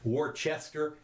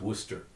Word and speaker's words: Worcester: in case you're interested Worchester is pronounce Worcester okay just so you